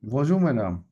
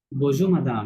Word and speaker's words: bonjour madame: উচ্চারণ করেন। বজু ম্যাডাম বজু মাদাম, right.